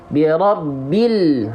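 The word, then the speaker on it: بِرَبِّ: Birobbil.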